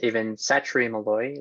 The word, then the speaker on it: Aven Satre Meloy: My name is Aven Satre Meloy, is how you say that.